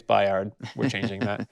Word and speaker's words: Bayard: But also, he says Bayard instead of Bayard, which I thought, just interesting because he's been in the show and that's how they pronounce it. So I think he was like, nope, it's Bayard.